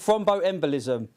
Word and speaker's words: thromboembolism: They've made me pronounce it thromboembolism.